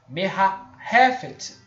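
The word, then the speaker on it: מרחפת: Na realidade, esse het aqui é gutural, tá? Esse het aqui eu vou mostrar para os irmãos, tá? Deixa eu fechar aqui. Esse het aqui é do que eu estou tentando pronunciar. Ele é como se fosse 2 R's na garganta. Só para os irmãos entenderem que no hebraico é gutural, é garganta.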